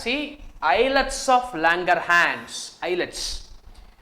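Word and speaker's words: islets: eyelets of Langer hands eyelets the S is silent here so you call it as an eyelets of Langer hand which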